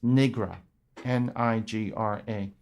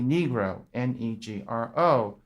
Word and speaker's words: Negro: the word Negro as Nigra, Nigra. Judge Motley stands up, objection. It's not pronounced Nigra, Nigra. It should be Negro, Negro.